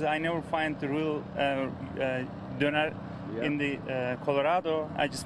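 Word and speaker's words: döner: Now, it's homemade, D-O-N-E-R. How do you pronounce that?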